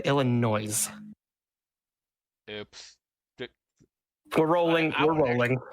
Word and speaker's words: Illinois: In my research, I came across a pretty funny story that was published in Newsweek back in October 2022 in Eureka, Illinois.